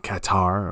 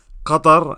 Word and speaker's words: Qatar: That's how you say it, by the way. Qatar, not Qatar, or whatever the hell they're saying now.